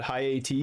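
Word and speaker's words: Hayti: It's there's a Haiti, Arkansas, but I think they call it High AT or something like that.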